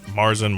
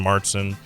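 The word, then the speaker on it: Märzen: Marsen, Martson, um, depends on where you're at, how to say it.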